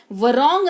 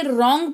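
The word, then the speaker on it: wrong: वर रॉन्ग नहीं रॉन्ग पढ़ते हैं यानी कि गलत।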